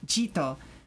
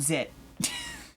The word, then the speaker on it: Jito: I know it's Jito, but it sure is spelled Zit.